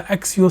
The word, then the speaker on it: Accio: But there is a brand new way to put your entire procurement process on autopilot using the Accio Sourcing Toolkit. So this is Accio Work.